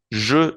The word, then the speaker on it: je: Je suis. Bien, recordemos que la E francesa no suena como la E en español y se pronuncia entonces el pronombre je. Je.